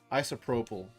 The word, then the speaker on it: isopropyl: Isopropyl. I guess I gotta really emphasize the O. Yeah. Isopropyl.